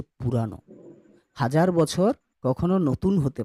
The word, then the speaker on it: পুরানো: 1000 বছর পুরাণ কিন্তু নয়, পুরাণ নয়। হ্যাঁ, পুরাণ ভুল করে উচ্চারণ করবে না, ওটা হচ্ছে পুরানো।